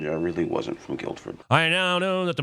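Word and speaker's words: Guildford: obvious tale is that he just pronounced the D in Guilford the actual dennin of Guilford and most of England in fact don't even recognize the letter d as part of the English alphabet I assumed you were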